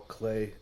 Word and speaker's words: Klee: Hey, Travis, you see the Paul Clay Yes. poster in the background? Art nerds. Not pronounced Klee.